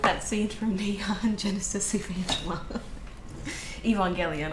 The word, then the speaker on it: Evangelion: Evangelion. I always say it wrong. Evangelion. That's what it is.